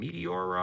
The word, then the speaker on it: Meteora: 2005, Linkin Park drops their second album, Meteora, I want to say it's pronounced.